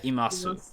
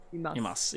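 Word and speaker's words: います: ga imasu. Imasu. Imas. Imasu. We don't say the You you. don't say this.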